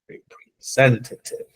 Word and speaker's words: representative: The accent is in the sen. Representative.